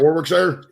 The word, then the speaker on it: Warwickshire: I was just going to say, if you ever try to pronounce any of our counties and it sounds the same as the Shire from The Hobbit, you've got it wrong.